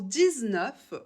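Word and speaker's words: dix-neuf: de 0 à 10 19 pour 19 on va prononcer le X de 10 comme un Z normalement comme il commence par une consonne le 9 on devrait pas mais on le fait quand même pour la liaison je vous invite de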